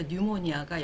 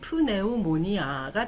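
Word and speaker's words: pneumonia: 여기서 영어 단어에서 P는 묵음이 되어버리죠. 그래서 뉴모니아가 영어 단어 폐렴인데요. 소리 나는 대로 묵음을 안 하고 다 읽으면 프네우모니아가 되죠.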